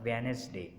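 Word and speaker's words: Wednesday: डी इज़ not pronounced in the following common words, handkerchief और वेनेसडे, यहाँ पर भी हमने डी को साइलेंट किया।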